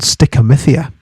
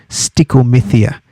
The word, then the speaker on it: stichomythia: So it's spelt, so stickamithia is spelt STICHOMYTHIA, stick, looks like stitch, stickomythia.